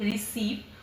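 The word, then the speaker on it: receive: सी के बाद वाई आया तो इसका साव साउंड, सी के बाद ई आया तो इसका सा साउंड, रिसीव, और सी के बाद आई आएगा तो इसका साउंड हो जाएगा सिटी।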